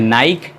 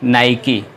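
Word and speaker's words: Nike: Mi के ही ए recently लोग प्रणाम्स करते हैं नाईक लेकिन उसका सही प्रनंसीएशन है ना ही की और यह अमेरिकन कंपनी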